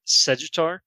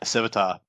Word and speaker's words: Sevatar: I really like Segitar, if I'm saying it right. The Prince of Crows, essentially Conrad Curse's second in command kind of guy. That guy, yeah. Yeah, Sevatar. Yeah, Awesome. Sevatar, sorry.